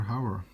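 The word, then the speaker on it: Hauer: hatcher uh with vodka however as we say in the netherlands uh to pronounce it in a dutch way but yeah rutger however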